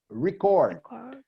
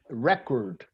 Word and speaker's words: record: If it's the verb you are pronouncing, the emphasis is on the first syllable, like record. If it's a noun, the stress, the emphasis is on the second syllable, like record.